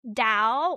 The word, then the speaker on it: Tao: The Dao or the Tao, it's spelled T AO, but it's pronounced D AO, but it's spelled either way.